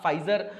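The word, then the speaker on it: Pfizer: तो ये अभी यूएस की एक फार्मा कंपनी है, उसका नाम ही मतलब फाइजर है, पी साइलेंट है।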